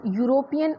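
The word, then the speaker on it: European: अब जैसे यहाँ पे मैंने लिखा हो कि use before word such as यूरोपियन और university which sound like they start with a consonant even if the first letter is a vowel.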